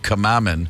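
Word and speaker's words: Cwmaman: They're from a valley town called Camamin, which is spelled like Cwymyra.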